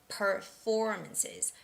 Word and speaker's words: performances: Now the stress goes on the second syllable, so it's got to be performances, performances, performances, performances, performances.